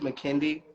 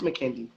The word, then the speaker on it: McKindy: So his name is McKindy, so I wanted to say that because a lot of people get his name wrong. But you can say Ken, though. You can't call him Ken. But a lot of people have been saying his name wrong. But I love his name because it's so unique. So that's why I always love to correct people. Like, it's McKindy.